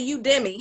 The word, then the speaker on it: Udemy: do you pronounce it i say you demi that's why i'm like huh but everybody's saying in a different way it's u-d-e-m-y dot-com oh